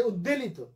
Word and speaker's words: উদ্বেল: উদ্বেল, উদ্বেল, আমরা আনন্দে উদ্বেলিত, অনেক অনেক শিক্ষিত লোকের কাছ থেকেও শুনি, আসলে উচ্চারণটা উদ্বেল, উদ্বেল, বফলার উচ্চারণ হবে, কারণ উত যোগ বেল, বেল শব্দের আগে উত উপসর্গ আছে।